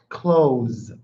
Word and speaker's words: clothes: This is pronounced clothes. Clothes. I am wearing clothes. Okay? I am wearing clothes. It's exactly the same as this. Close the door.